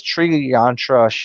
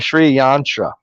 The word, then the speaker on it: Sri Yantra: I thought it was Sri Yantra. Sri. That's why I said Sri Lanka. Thank you for the Sri Yantra. That's the correct word.